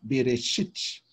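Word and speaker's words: בְּרֵאשִׁית: Aí o shin e o irikiot e o tav, bereshit, bereshit, bereshit. Você fala mais rápido o cheval de bereshit, bereshit, entendeu? Então, o E, ele é bem rapidamente pronunciado.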